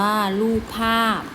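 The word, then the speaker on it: รูปภาพ: ที่ 6 นะ คะ รูป ภาพ อ่าน ว่า ลูก ภาพ นะ คะ คำ ว่า ลูก เป็น อ่า คำ ที่ อยู่ ใน แม่ กบ ด้วย นะ คะ เพราะ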